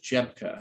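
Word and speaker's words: Rzepka: They work together, and her name is Candace Jebka, and that's spelled, it's a Polish name.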